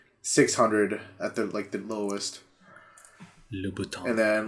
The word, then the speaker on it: Louboutin: Christian Louboutin. Yeah, dude. How do you say that? Not Louis Vuitton. Louboutin. Louboutin.